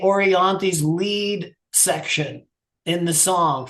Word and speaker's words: Orianthi: When you talk about Orianti, I think it's pronounced Orianti.